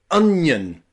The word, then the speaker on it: onion: words like onion y it's really difficult to pronounce this word because you've got an and then Yun onion onion okay practice with